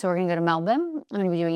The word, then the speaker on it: Melbourne: From there, we're going to go to Melbourne, as I have now learned it is pronounced, not Melbourne. So we're going to go to Melbourne.